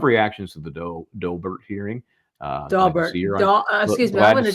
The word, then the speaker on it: Daubert: Last time I saw it phoneticized, it was DOW, like Daubert. You don't like that either? But listen to what Jason Daubert, how he pronounced it in his name. Yeah, I did. And again, it was Dow, like Dow Jones, Daubert.